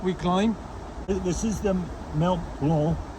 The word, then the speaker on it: Mont Blanc: This is the Mont Blanc, B-L-A-N-C, but the C is silent, Mont Blanc, Massif, so which is the mountain is the central part of it, and we're hiking around the mountain.